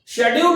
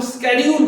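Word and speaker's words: schedule: शेड्यूल नहीं बोल करके आपको स्केड्यूल बोलना है, राइट।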